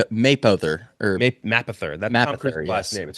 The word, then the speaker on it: Mapother: Maperton, That's how you pronounce that? or I It think ends in an R. Mapother, or Mapother.